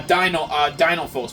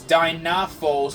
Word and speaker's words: Dinophos: This is a Dinophos. Yeah, a Dinophos. But for some reason they were pronounced as Dynaphos for some reason in some of the older games.